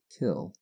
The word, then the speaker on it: kiln: it to the Kiln which as is well known is pronounced as though it were spelled kill a little girl of